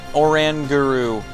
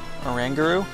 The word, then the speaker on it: Oranguru: for anything about that it's oranguru oranguru yeah that's how it's pronounced all right this one